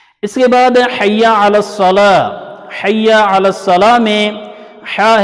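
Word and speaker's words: الصلاة: ہے، حی علی الصلاۃ۔ اصل میں الصلاۃ گول تا ہے، تو تجوید کا قاعدہ ہے کہ جب گول تا پہ آپ رکتے ہیں تو گول تا کو گول ہا میں بدل دیا جاتا ہے۔ تو اگر آپ ایسے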